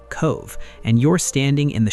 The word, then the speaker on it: Cobh: Head down to the town of Cove, pronounced Cove, and you're standing in the shadow of the most famous ship in history.